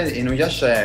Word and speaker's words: Inuyasha: Inuyasha, l'ho pronunciato bene, Ale, questo Inuyasha. Inuyasha, sì.